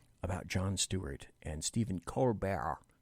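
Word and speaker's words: Colbert: John Stewart and step corar corar he prefers you pronounce it in a French uh fashion Steven cbear and John Stewart and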